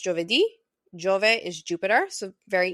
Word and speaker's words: Giovedì: In Italian, it's pronounced Giovedì.